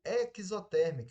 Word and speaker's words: exotérmica: uma reação classificada como exotérmica ou exotérmica eu posso pronunciar das duas maneiras que tá correto libera calor vai para